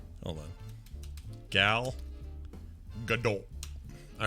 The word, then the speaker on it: Gal Gadot: I totally get it because it's hard to pronounce. But yeah, my name is Gal Gadot. Gal Gadot. Gal Gadot.